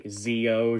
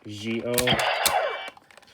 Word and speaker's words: Zi-O: talking to my friends i would always just say zeo just be lazy but technically the way you're meant to say his name is jio and yeah that